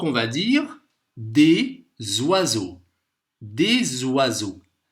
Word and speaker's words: des oiseaux: Des oiseaux. Ici, le S, il se prononce comme un Z.